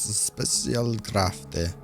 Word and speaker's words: Spezialkräfte: KSM Commandos Specialkräfte. Specialkräfte. I don't know how you pronounce that. Specialkraft.